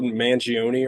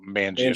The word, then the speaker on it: Manganiello: I always get his fucking name wrong. Joe Mangione or whatever. Joe Manganiello.